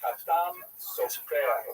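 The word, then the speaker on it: חתם סופר: And when he wrote his writings in Hebrew, he preferred to refer to himself as the Khatam Sofer. That would be a Sephardi pronunciation, or at least a poor imitation of a Sephardi pronunciation, which means the seal of the scribe.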